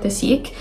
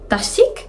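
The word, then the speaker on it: dasique: That's how Koreans pronounce it, because today I was having dinner with my like Korean tutor, and she literally, I said like, oh, she's like, oh, which Korean makeup brand do you like? And I was like, the sik. She's like, the sik. And I was like, oh, I'm definitely pronouncing it wrong.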